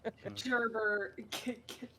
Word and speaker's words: JerBear: You gotta be careful with how you pronounce glad. it, or else you're gonna say Gerber like our other guest. Oh. JerBear, Gerber.